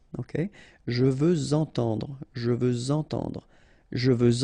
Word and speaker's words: je veux entendre: Even if we've got this X at the end, well, with the liaison it will sound like Z. Okay? Je veux entendre, je veux entendre.